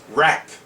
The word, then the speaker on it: wrap: When the letters are together in a word, the W is silent as in right and wrong. W と R 2つ並んだ文字が単語の中にあるとき W は発音しません。 Let's begin. WR is R. Wrap.